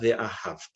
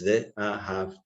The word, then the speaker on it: ve'ahavta: Loving Hashem, remember, it's not ve'ahavta, it's ve'ahavta. The accent on the last syllable.